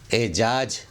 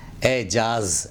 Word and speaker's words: اعجاز: صحیح تلفظ ہے اعتراض۔ 25 نمبر پر اعجاز بولتے ہیں، اعجاز نہیں اعجاز، اعجاز یعنی چمتکار۔ پھر 26